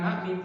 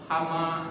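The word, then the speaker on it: حم: Nah, kalau nggak belajar dibacanya bukan ha mim, tapi hama. Alif lam mim alama.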